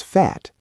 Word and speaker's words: fährt: Air z s fährt, he, she, it drives. The A becomes A umlaut, creating a sharper, higher sound, much easier to pronounce when speaking quickly.